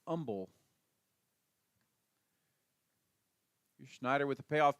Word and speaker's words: Humble: It's spelled humble. It's pronounced umble.